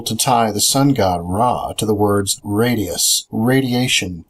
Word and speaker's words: Ra: In ancient Egypt, the name of the sun god was Ra, spelled R-A, sometimes pronounced Re.